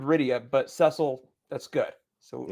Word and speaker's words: Rydia: and Rosa uh and Radia radio okay whatever points for for pronunciation you butchered Rydia but Cecil that's good